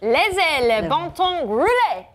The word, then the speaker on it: Laissez le bon temps rouler: Laissez le bon temps rouler.